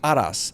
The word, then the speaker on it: Araz: say your name properly, Aras. So you want to put the emphasis on the first A and then roll the R a little bit, which you gave me